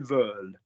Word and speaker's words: veulent: get why you would, but in a verb, ENT is silent. So one more time for me, Heidi, could you say for me, ils veulent?